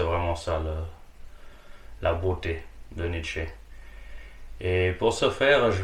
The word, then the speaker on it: Nietzsche: Et oui, le E se prononce en allemand, du coup c'est Nietzsche et pas Nietzsche.